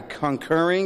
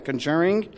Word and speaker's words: The Conjuring: ago it was at the conquering am i pronouncing it right the conjuring the conjuring I'm sorry for not pronouncing right that was the last